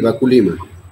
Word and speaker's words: Baculima: Entonces, bueno, ya estamos en nuestra tercera ponencia con José Baculima, si estoy pronunciando bien, ¿verdad? Sí, Baculima.